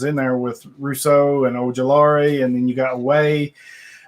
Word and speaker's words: Ojulari: I don't even know how to pronounce his last name. Ojulari.